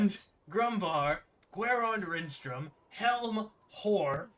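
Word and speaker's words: Hoar: Grumbar, Guerond Rinstrom, Helm, Hor, which is not pronounced like whore, Ilmater.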